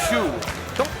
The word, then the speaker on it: Shu: Guys, you're supposed to go, let's go, Shu. Don't stretch it to 2 syllables. It's one syllable.